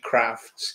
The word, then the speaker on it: Crafts: name it is in it is indeed crafts and i never heard anybody pronounce it crafts till i went to cambridge as a student so please carry on pronouncing it as you would it's pretty much it